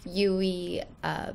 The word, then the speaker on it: Euwe: Now, of course, there are many different ways to pronounce Euwe. There's Euwe, but for this video, we're going to stick with Euwe.